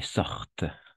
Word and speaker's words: sortent: Et attention, ENT à la fin, on ne prononce jamais. À qui veulent, attardent et sortent.